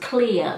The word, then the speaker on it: Clea: Okay, but it is pronounced Clea, like is it Cleopatra?